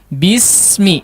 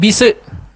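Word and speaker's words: بسم: Jangan disentugin apa? Dipantulin ya si bisnya. Bismi, jangan bise ya. Saya lebayin sedikit ya, saya lebihkan sedikit, bukan bise ya, bukan bukan, jangan digitukan, tapi halus ya, halus, tipis, tajam. Bismi, bismi.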